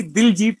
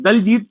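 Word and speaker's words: Diljit: जी, actual मेरा नाम ही दिलजीत है, जो दोसांझ, दिलजीत दोसांझ या दिलजीत कह लीजिए। जी जी तो एक जी। ही है कि नॉर्मली लोग दलजीत प्रोनाउंस करते हैं, बट दैट इज दिलजीत।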